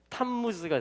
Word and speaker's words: 탐무즈: 라고 했어요 난무 쓰죠 원래 발음대로 하면 탄 무스가 되는 것입니다 이게 탐 무지의 시작이에요